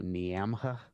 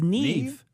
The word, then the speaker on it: Niamh: I believe it was an Irish listener that you may or may not have pronounced their name Niamha. Oh, it's Niv Neve. or something? It's Neve.